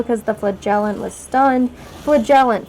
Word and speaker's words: flagellant: Flagellant, flagellant. That's how they pronounce it in this game, not flagellant.